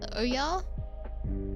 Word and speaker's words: Ouya: I think every game with the Ouya Oya, Yep, I pronounced that correctly.